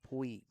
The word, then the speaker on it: Puig: Puig. Puig? Yeah, like the major leaguer. Puig.